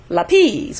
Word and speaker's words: lápiz: But since it has an accent, that's going to nullify the rule. Okay? It's not going to be lápiz. Lápiz, which is what I hear a lot of times in classes, is lápiz. Is going to go with the next to the last syllable, although the rule says last syllable. And that's simply because the word contains an accent over the A for pencil.